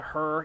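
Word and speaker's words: HRRR: So, but yeah, it is for the HR. It's pronounced the her. Yep, it's the her model.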